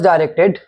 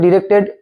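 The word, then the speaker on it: directed: আই ডিডুস ডাইরেক্টেড। নির্দেশ অনুযায়ী করতে হবে। ডাইরেক্টেড ডিরেক্টেড একই মানে শুধু দুটো উচ্চারণই কিন্তু কারেক্ট এটা চিন্তার কিছু নেই।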